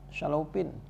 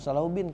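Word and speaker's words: الشلوبين: Syalaupin. Bukan Salaubin kiai bacanya.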